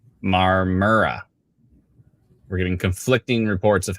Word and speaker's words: Marmora: say it quickly um uh Scott says don't pronounce the O in momora it's marmara marmara anyways long story short I hope everybody in